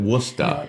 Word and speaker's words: Worcester: But we pronounce it Worusta.